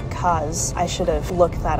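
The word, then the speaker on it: Grand Case: The area I believe is called Grand, spelled Case, but somebody we spoke to yesterday pronounced it like Kaz.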